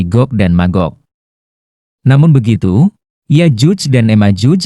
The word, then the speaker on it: Gog dan Magog: Dalam bahasa Ibrani, huruf Jim diucapkan dengan huruf G yang keras, sehingga menjadi Gog dan Magog.